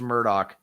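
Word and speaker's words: Murdaugh: Um it's it looks it's pronounced Murdoch, but it looks like this.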